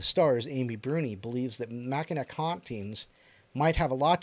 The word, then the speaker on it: Mackinac: No, my cousin lives in Michigan, and I'm pretty sure they pronounce it Mackinac Island. I don't know how they get the "o" out of that, but No, then again, there's Missouri.